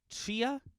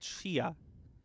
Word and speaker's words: Tchia: No, it's Chia. It's TCHIA. So the game's called Chia.